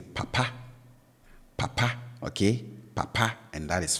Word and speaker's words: papa: is low and then the tone on the last syllable is high so I have the low tone marker on the first syllable and then the high tone Mara on the second syllable so I say papa